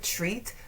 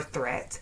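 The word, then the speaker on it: Threatt: People usually pronounce it either treat or threat, and then when I tell them that it's Threat, they're like, oh my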